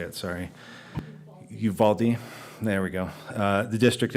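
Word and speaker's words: Uvalde: I don't know how to say it sorry Uvaldi there we go the district implemented the policy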